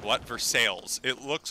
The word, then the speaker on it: Versailles: you you lived in first that actual verse versailles it's pronounced for sales for no reason oh my gosh i love